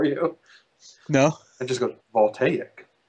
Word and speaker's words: voltaic: is there a reason you always call it volak uh that's because that's how I pronounce it okay I thought you were just